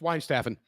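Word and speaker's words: Weihenstephan: Del Artois DG Yingling and Sons uh Smithwick's Brewery or uh Wine Stefan Brewery. How do you pronounce it, David? So, it's wine staffing.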